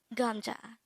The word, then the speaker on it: 감자: here at the angle we're going to study gamja let's start learn korean one word at the time or here at the hangout word number 200.